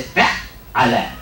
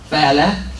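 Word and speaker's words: فعّل: the fact that there's emphasis on the second syllable. Instead of saying fa'ala, we say fa'ala. Fa'ala, fa'ala. So the emphasis is on the second letter, fa'ala.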